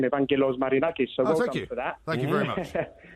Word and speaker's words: Evangelos Marinakis: First of all, I just need to congratulate you on your pronunciation of his name, Evangelos Marinakis.